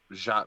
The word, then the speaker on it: Jacque: too now you know because uh jacque you know it mispronounced a lot with you know i guess it's only one syllable and it's pronounced it